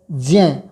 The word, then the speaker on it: ज्ञ: क्ष त्र ज्ञ बोला जाता है मुख शुक के कारण, लेकिन ये वास्तव में इसका उच्चारण ज्ञ है।